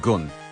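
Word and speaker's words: 軍: That gun, it's the same word as like Shogun. It's the same gun. So I thought that just to be clear, it's actually pronounced gun.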